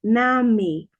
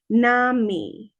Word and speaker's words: Name: some of these words they're spelled exactly the same way thoughts they are not pronounced the same way so take note of your pronunciation so here we have Nami name spells the same way but pronounce differently this is pronounced Nami Nami yes say that again